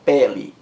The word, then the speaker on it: pele: Por exemplo, eu tenho a palavra pele, pele, pele. A sílaba mais forte é a primeira sílaba. Pé, pele, pele. Pele, esse E aí, está em sílaba tônica. É a vogal E. Só que não leva acento gráfico.